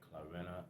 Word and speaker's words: Clarina: I just drum about say her name again clarena c l a i r i n a clarina okay I H Nichols she looked out of